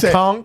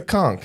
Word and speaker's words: conch: to a k con are you saying con it's a conch yeah it's a cons I don't do conses